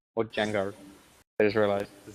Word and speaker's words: Django: Or Django. I just realised the C is silent, as it even says in the trailer.